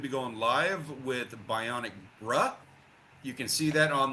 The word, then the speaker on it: Bruh: that on the Bionic Bruh channel on YouTube. He's got a link in the chat for you there. I say it like that because he spells it like this. B R U H.